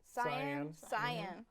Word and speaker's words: cyan: 8 was Cyan Creepers. That's not how you say it. Cyan.